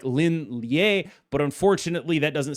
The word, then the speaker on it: Lin Lie: By the way, do want to note that I am aware it's pronounced like Lin Lie, but unfortunately that doesn't sound like V, so I can't even make the pun if I say Lie hand.